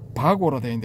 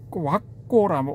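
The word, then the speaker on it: vagga: 바고라는데 와 와고라 읽어야 된답니다.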